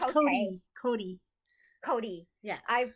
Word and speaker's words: Cote: uh uh oh okay is name pronounced like coat or is it no it's not it's cody cody cody yeah i